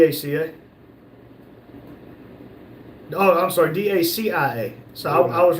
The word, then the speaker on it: Dacia: Rumble said it's not DACA. It's Dacia.